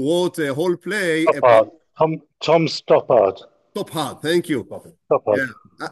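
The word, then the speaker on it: Stoppard: famous play writers in the 20 Century Tom stford I hope that I I pronounce his name right who wrote a whole play Tom topart topart thank you to yeah I think it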